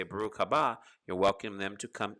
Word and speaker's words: Baruch: a starting blessing adonai some of you might pronounce it as bar hoo but it's actually so we usually say baruch all the time like